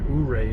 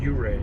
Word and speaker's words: Ouray: I mispronounced it earlier. I said Ouray. It's Ouray.